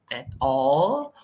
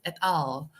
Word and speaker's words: et al.: The correct pronunciation is not at all or et al. As I said earlier, it's et al.